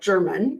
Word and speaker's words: German: This is a case where 69-year-old Jeff German, it is spelled like German, but pronounced German.